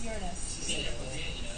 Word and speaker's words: Uranus: Uranus. It's pronounced Uranus.